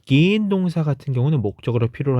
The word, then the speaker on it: gehen: gehen. 왜죠? 모음 뒤에 하가 붙으면 앞에 있는 몸을 길게 발음하는 장모음이 되기 때문에 gehen 하죠.